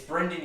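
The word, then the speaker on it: Brendon: His name is It's pronounced not Panic at Brendan. the Dis- It's Brendan Urie, and then it's me, Brandon.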